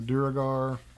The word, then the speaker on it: Duergar: Then it has creature variations, troglodyte champions, the Duergar. That's how I pronounce it. It could be pronounced phlegm, but I think it's Duergar.